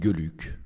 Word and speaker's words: Geluck: On dit Geluck en Belgique parce que c'est un nom flamand. Voilà, le GE se prononce Ge, là, ça veut dire bonheur.